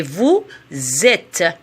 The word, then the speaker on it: vous êtes: attention à la prononciation je fais la liaison c'est vous êtes il ou elle avait